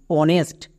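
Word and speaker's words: honest: যেমন অনেস্ট। এখানেও কিন্তু এইচ এর উচ্চারণ হবে না। কেন? কারণ এখানে দেখো এইচ এর পরে আবার ও আছে। তার মানে এখানেও এইচ সাইলেন্ট থাকবে।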